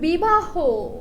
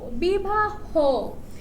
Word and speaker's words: বিবাহ: পরে বলেছে শব্দের শেষে হ থাকলে শব্দের শেষে হ থাকলে সরধ্বনি সংত উচ্চারণ হয়। যেমন বিবাহ বিবাহ দেহ ঠিক আছে শব্দের শেষে